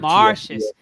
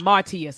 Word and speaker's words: Martius: marshes they just want marshes so it's not Martius it's marshes it technically stands for